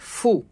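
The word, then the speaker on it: ふ: হা হি এটা ব্যতিক্রম হু এর পরিবর্তে এটা উচ্চারণ হবে ফু হা হি ফু হে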